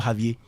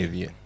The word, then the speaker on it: Xavier: Is it Xavier or Javier? You actually pronounce it X. Okay. Xavier.